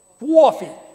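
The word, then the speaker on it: coffee: How do they say it up here, Lori? You learned how to say it. Quaffy, quaffy. How many like to drink quaffy? That's how they say it in Beacon, quaffy.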